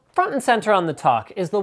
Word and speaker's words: Toq: review of The qualcom Talk Smartwatch guys please the pronunciation is talk like tick tock not to at least until they